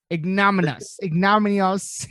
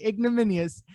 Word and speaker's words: Ignominious: Ignominious is not God. Ignominious. Ignominious. Thank you. There I we will go. get it right eventually. Ignominious.